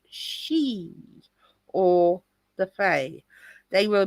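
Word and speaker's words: sídhe: into the Earth and became the Sidi pronounced she or the Fay they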